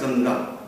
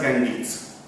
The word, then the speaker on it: Ganges: system that is ganga now we have name as ganga but in English it is pronounced as Ganges so River Gangi system